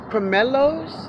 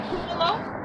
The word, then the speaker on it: pomelo: He has some local, juicy, sweet, tree-ripened pomelos. Chanel, those, it says pomelos. Pomelos. Wow. Just pronounce it pumelo.